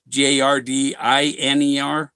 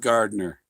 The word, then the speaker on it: Gardiner: I lived in Gardner, saying it spelled the same way as Gardener's Island, Gardiner, Gardiner. Not some people leave that I out in the middle. There's an I in the middle of Gardner.